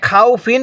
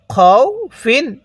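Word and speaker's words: خَوْفٍ: এরপরে খ ওয়াও জবর খও, ফা দুই জের ফিন, খও ফিন। হ্যাঁ, খাও ফিন পড়বেন না, ঠিক আছে? কিভাবে পড়ব? খও ফিন।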